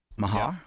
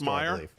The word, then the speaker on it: Meijer: Is that how it's pronounced, Meyer? Yeah, Oscar Mayer.